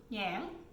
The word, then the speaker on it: nhãn: So in Vietnamese, this is called so lychee is called jai vai, and this longan is called nhãn. So it's, Yang. it's yang. Say it, yang.